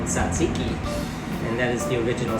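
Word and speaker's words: tzatziki: from turkey to the middle east and it's pronounced in specific languages as in arabic or greek in greek it is called satsiki and that is the original spelling here t-z-a-t-z-i-k-i that is saziki it's also called jajik in turkey it's also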